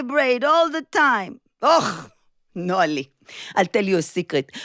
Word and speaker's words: Noa: Noa of Noa nosat לקולנוע. Noa motorcycle riding to the movies. Apparently the only two words in the Hebrew language that rhyme with my name.